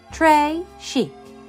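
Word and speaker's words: très chic: it like a bracelet Trey Chic you say it like this try Chic it means very fancy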